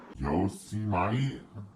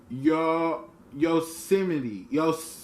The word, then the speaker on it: Yosemite: Yosemite? No. Yosemite.